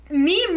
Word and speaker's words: meme: rhyme with anything right meme rhymes with genes so that means that